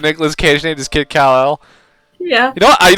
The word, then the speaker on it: Kal-El: Inspector is spelled Inspektor. With a K even. Oh my god. Baby Kal-El. Kal-El?